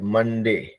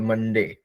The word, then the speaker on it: Monday: MONDAY मंडे, MONEY मनी, मन ई। तो वैसे देखिए ये फॉर्मूला है एक्चुअली, देखेंगे हर जगह पे जहां पे भी MON है वो मन होता है, CON है वो कन होता है ना।